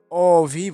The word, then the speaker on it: অভি: যেমন অভি, অভি আমরা লেখার সময় ঠিক এইভাবে লিখি, তবে উচ্চারণের সময় এইভাবে অভি বলি।